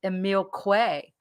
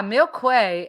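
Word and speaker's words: Émile Coué: not his material and it's the material of emil quay are you familiar with emil quay no i'm not yeah milkwey uh i'll i'll drop his uh actually i'll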